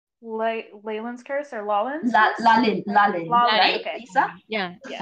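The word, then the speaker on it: Lalín: Lalin, right? Okay. Lisa? Yeah, yes. Lalin. Yeah. Pronunciations.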